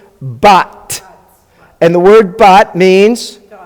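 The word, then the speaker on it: בת: You would pronounce that word bat, right? Because it's closed, bat.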